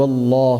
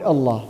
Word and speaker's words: Allah: Fatah or Obama then the word Allah will be pronounced in a heavy manner an example would be